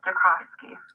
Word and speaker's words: Jacovsky: My last name is Jakowski.